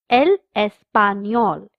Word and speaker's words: español: The third subject is el español, Spanish. The N has a curly line on top, so we pronounce it as nia.